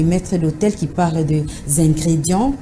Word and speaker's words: ingrédient: Ce mot est parfois mal prononcé par certaines personnes qui disent ingrédient au lieu de dire ingrédient. Ça s'écrit I-N-G-R-E-D-I-E-N-E, mais ça se lit ingrédient. Donc c'est le son en qui pose problème.